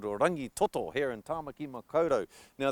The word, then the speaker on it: Rangitoto: beautiful magnificent island called rangitoto here in tamaki makoto now the key to pronouncing rangitoto ng sound also sounds like singer the ng sound and